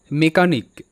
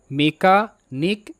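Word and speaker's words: mechanic: আই সি নিক নিক মেকানিক মেকানিক মেকানিক এর অর্থ যন্ত্র মেরামতকারী তো এখানেও সিএইচ ক হিসেবেই উচ্চারিত পরবর্তী শব্দ ক্রনিক সি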